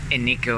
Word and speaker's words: Eneko: so we now know how to pronounce it's an eco the pronunciation right can't believe how many people are